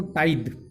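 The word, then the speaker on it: tithe: इसके बाद आ जाएगा स्टूडेंट, आप देख सकते हैं टाइथ, क्या प्रोनाउंसिएशन करेंगे हम इसको, टाइद।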